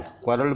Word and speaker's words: quarrel: क्वारल मतलब होता है झगड़ा। अब देखिए इस वर्ड का उच्चारण, ये जो वर्ड है QUARREL, इसका उच्चारण करते हैं क्वारल।